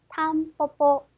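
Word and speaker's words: タンポポ: 그래서 민들레라고 하는 단어에 탐뽀뽀, 탐뽀뽀. 그래서 중간과 끝에 왔기 때문에 쌍비읍 정도 발음해서 탐뽀뽀라고 발음하시면 되겠네요.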